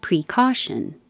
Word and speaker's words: precaution: You can say pre or pra because the pre is not stressed. The E can change to a. Precaution or precaution.